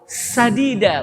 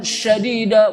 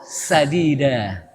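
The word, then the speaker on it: سديدا: Wan sadida ucapkanlah dengan ucapan yang sadid. Pakai sin ya dengan ucapan yang baik. Kalau pakai syadid ucapan yang kasar pakai syin. Makanya hati-hati bacanya. Waquulu qulan syadida.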